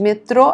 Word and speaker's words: Metrô: Olha como se fala, hein, gente? Metrô, acento circunflexo no O.